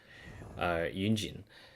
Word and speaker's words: Yunjin: So, for example, one of my favorite characters, Yunjin, YU in Chinese is a syllable that isn't something that you can spell or, like, say in English, right?